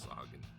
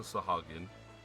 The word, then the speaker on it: Sahagin: I know how people pronounce it differently, but I will always pronounce it Sahagin.